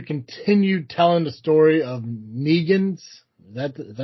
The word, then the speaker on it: Negan: This issue continued telling the story of Negan's. Is that is that how you pronounce it?